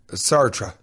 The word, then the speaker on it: Sartre: No, I think it's Sarte. That's the writer, right? Sartre. Yeah, I don't pronounce it correctly.